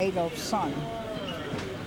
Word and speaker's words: Adolfsen: for first name, and his son would become Adolfsen, or Adolf's son. You know, like you say Adolf's son, Yeah. but they spelled it S-E-N. They didn't spell it son.